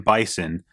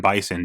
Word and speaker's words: Bison: to be called M bison uh because obviously it rhymes with M Tyson for Mike Tyson and